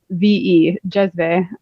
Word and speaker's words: cezve: It's spelled CEZVE, jezve.